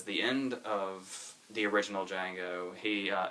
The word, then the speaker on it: Django: And then he makes him spell Django, and then he says the D is silent, and Nero says, I know.